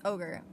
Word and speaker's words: Ohgr: I think it's ohgr. That's how you say it.